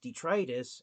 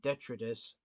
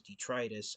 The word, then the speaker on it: Detritus: was until his legacy figure was announced anounced detrus and that's how his name is supposed to be pronounced according to the Transformers Wikipedia for years Transformers fans had incorrectly been calling him detrus is because his name name looks like it's